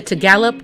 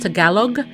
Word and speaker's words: Tagalog: A lot of people say Tagalog, or there's the cocoa, you add the cocoa, but it's actually pronounced Tagalog, and that is one of the main lead dialects that are spoken.